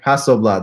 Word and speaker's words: Hasselblad: Hasselblad, that's how you pronounce it.